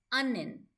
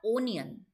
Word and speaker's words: onion: The right pronunciation for this word is onion. Not onion.